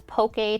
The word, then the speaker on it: poke: it's hard lauren sometimes sometimes anglicized as pokey to aid pronunciation so diced raw fish